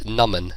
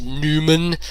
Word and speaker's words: Naman: But the way you pronounce it is Numan, like Numan, not Naman, not Naaman, not Naaman, not Niman, not Newman, Naman.